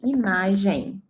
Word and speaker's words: imagem: In Portuguese, imagem. Pay attention to the pronunciation, okay? In Spanish, G and J sounds like G, right? And in Portuguese, we say J.